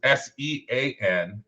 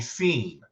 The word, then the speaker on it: Sean: Well, you see the way I spell mine, which is SEAN. Right. And people actually have the nerve to want to call me Scene. Like, nobody named Scene.